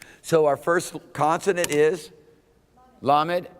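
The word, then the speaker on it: lamed: here's the schwa so our first consonant is la med l just say that wait with me lammott l and then here we got a schwa the SWA is silent another silent are you kidding me why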